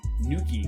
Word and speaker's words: Nuckey: I remember there's one DJ, his name is DJ Nuki, but he spells his name Nuckey.